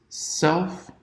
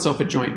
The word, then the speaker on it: self-adjoint: its own adjoint and I don't know why the emphasis in the pronunciation of this word is different because we don't say self adjoint we see self adjoint but the map itself isn't called the adjoint it's called the adjoint